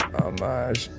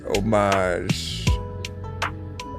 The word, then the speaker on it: homage: What do you say the H is silent in homage? Homage.